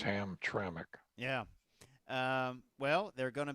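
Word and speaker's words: Hamtramck: detroit in hemtramic michigan a lot of people have a hard time saying hemtramic don't they that's right well you kind of want to just say two uh syllables ham tranq yeah yeah where it's but it's ham trammic yeah um well they're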